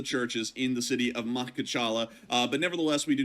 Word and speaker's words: Makhachkala: been caught on fire within the area of Makhachkala. Sorry, everyone, that name is really hard for me to pronounce. It is actually Makhachkala.